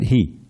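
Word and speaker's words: हि: Not hi, but he. Yada, yada, he.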